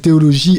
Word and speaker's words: Theoloji: Voilà, j'ai fait théologie. Donc, c'est là d'où ça vient, théologie. Donc, ça s'écrit J-I à la fin.